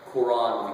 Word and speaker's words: Quran: The Quran with the Q invites you to pronounce it in a way that's much more similar to the Arabic.